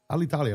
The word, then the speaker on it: Alitalia: How do you pronounce Alital Italia? Just like that. Alitalia Sounds weird when you say it. Yeah. Alitalia like mama.